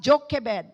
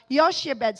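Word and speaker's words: Jochebed: her son sibed yoshebed some pronounce this as jokebed but some pronounce it Yoshibed.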